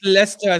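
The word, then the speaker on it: Leicester: I don't know why I don't understand why you guys pronounce Lester that way like it's it's written as leer but it's pronounced as Lester like you guys are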